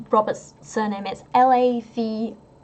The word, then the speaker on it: Lavoisier: People are asking about how the name is pronounced. Robert's surname is Lavoisier. Like Lavoisier.